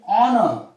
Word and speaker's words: honor: Similarly, honor, H is silent.